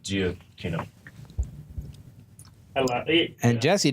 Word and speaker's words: Giacchino: It's spelled Giacchino. I love it. And Jesse decided he wasn't even going to try. Giacchino. Yeah, it's Giacchino. Key. No, it's Key, not Chi. Key.